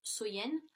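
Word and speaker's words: Samhain: Et si vous voulez, dans le temps des Celtes, la plus longue nuit de l'année donc était Samen, donc qui se prononce Soyen.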